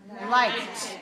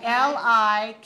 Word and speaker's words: liked: And the past tense of like is liked. L-I-K-E-D. We pronounce it with a t ending.